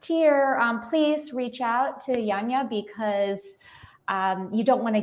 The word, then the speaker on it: Janina: And tell people how to pronounce your name, because it's spelled like Janina, but it's not. Yeah, it's pronounced Yanya, Yanya. Yeah. Beautiful. And I get Janina all the time, so I do answer, but I will correct.